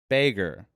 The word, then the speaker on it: Bragin: And this has been Braggen. Bragin? Bragin. The way I remind people, it's pronounced like Reagan. It's pronounced like President Reagan. It's pronounced like President Reagan with a B in front.